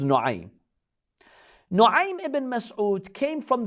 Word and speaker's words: Nu'aym: Some say Na'im, but probably the correct pronunciation is Nu'aym.